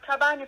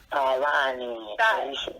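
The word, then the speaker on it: Tavhani: I wanted to get the pronunciation right, because I was pronouncing it. I could feel that it's not being right. Okay, it's Tawani.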